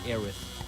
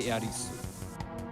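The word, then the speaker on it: エアリス: Earth, that's true, but the way that the Japanese pronounce her name does not sound like a TH. They don't say Aerith, they say Iarisu. And that's like an S.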